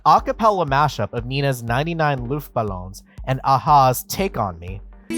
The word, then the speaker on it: Luftballons: mashup of Nina's 99 Luftballons and aha's Take On Me foreign and it's fine other than him glaringly mispronouncing as he said it loofballoon it should be luftballon it isn't entirely clear